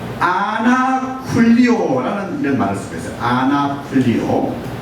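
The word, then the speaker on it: ἀνακυλίω: 한번 발음해 보시겠어요? 첫 번째로 아나쿨리오, 아나쿨리오, 또 아포클리오, 아포클리오.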